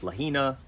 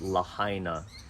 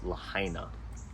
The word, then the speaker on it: Lahaina: the oldest it's Lahaina I've heard this pronounced lahina it's not it's Lahaina and it's an old